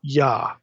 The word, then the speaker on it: Yah: And it's always with an A vowel, Yah, always.